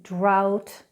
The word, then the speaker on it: drought: Now the silent GH is often in words like drought, through, thorough, daughter.